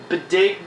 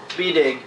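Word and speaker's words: B'dg: And I can't pronounce the name of the squirrel Green Lantern. It's Bedig. B''DG. Bedig.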